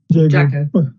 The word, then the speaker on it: Jago: Charlotte's name is not Lago, it's spelled J-A, G for God, O for Orange. Jago.